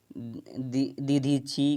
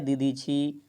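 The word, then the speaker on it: दधीचि: वासुदेव, दीधीची, क्या है, दीधीची, कपिल, नारद। तो देवताओं के राजा का वज्र किसकी हड्डियों से बना है, तो याद रखिएगा दधीची, क्या है, दधीची, याद रखिएगा, थोड़ा सा प्रोनाउंस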